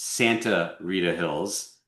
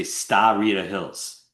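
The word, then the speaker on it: Sta. Rita Hills: So, you know, while the name of the AVA is pronounced Santa Rita Hills just as it's written, it must be written as STA. Period. So, I hear people all the time say Starita Hills.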